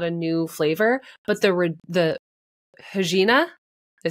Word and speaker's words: Regina: Like, that is not a new flavor, but the Regina, did I say it right?